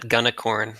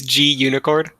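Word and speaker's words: gunicorn: login contacts nice thanks i always pronounce that gunnacorn i have no no idea i've never actually used it it's g unicorn i i so i it's supposed to be like the ruby unicorn project right and then they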